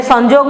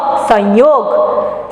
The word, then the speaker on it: संयोग: संजोग, हिंदी में संजोग नहीं, इसको कहते हैं संयोग।